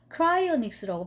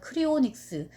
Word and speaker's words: cryonics: 근데 이제 소재 자체가 제가 되게 이게 흥미가 있어서, 냉동인간이라는 게 크라이오닉스라고 발음해야 되나 봐요. 발음교를 찾아보니까. 근데 이제 쓰기로는 제가 봐서 크리오닉스, CRYONICS, 크라이오닉스인데, 요 이제 냉동인간 기술이